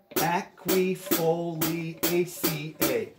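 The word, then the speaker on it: Aquifoliaceae: It's seven syllables, and it's pronounced aquifoliaca. Ready? Aquifoliaca, okay? Which means widely distributed shrubs and trees. By the way, it rhymes with May and Day, so pretty cool.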